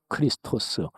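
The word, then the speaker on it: Χριστός: 그리스도란 말은 신약의 언어인 헬라어로 발음해서 크리스토스, 그리스도지요.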